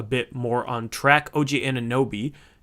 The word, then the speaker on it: Anunoby: OG Anunoby, otherwise known as OG Anunoby, it's a new boy. And a new boy.